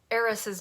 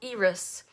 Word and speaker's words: Eris: i'm i've been pronouncing heiress's name you can pronounce it two different ways it's heiress or iris and if you are